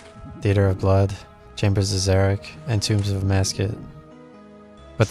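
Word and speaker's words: Xeric: Zerich is spelled X E R I K.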